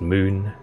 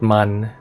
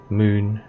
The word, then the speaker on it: Mün: And yes, it is pronounced moon, not man, moon.